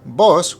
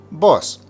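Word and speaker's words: voz: me regarding the word boss which means voice the v in Spanish is normally pronounced with a B sound and z is pronounced with an S sound so you have boss make sure you pronounce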